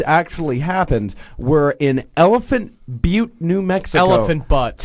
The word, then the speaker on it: Butte: It's Butte, and you're dumb enough to name your town.